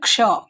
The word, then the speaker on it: क्ष: Actually इसको हम लोग छ नहीं पढ़ते, इसमें थोड़ा सा क का उच्चारण होता है, इसलिए यहाँ पे के लिखा हुआ है, ठीक है? जब हम लोग इसको पढ़ते हैं क्ष, क का थोड़ा उच्चारण